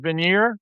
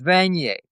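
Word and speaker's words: Vanier: to Governor General George Vigner from 64 to 66? Did I pronounce that right? Oh yes, it's ad is the uh it's a rank and his name was Vanet.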